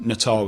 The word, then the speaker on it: Natal: It is really, Natal is how it's pronounced.